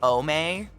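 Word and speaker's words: boehmei: it's the uh brackie pelma bommay b-o-e-h-m-e-i i believe is how you spell it bombay is just some fucker's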